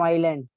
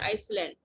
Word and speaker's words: island: Ma'am, Island. Okay, Ma'am, good. Iceland. Not Iceland, island. S is silent. Okay. Okay, beta, S is silent. Don't say Iceland.